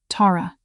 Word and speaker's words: Tara: "Tara." He said my name the way he always had, with the emphasis on the first syllable, like it was a declaration.